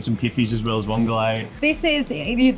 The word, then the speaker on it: vongole: Vongole.